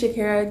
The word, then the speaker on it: Shekira: Hi guys, my name is Shekira, just like the singer, but it is spelled slightly different.